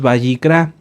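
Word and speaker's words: Vayikra: muy bien el libro lo hemos conocido como levítico pero lo correcto es bicra ahorita les digo Qué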